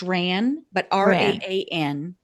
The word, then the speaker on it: Raan: So we launched RAN in March of this year.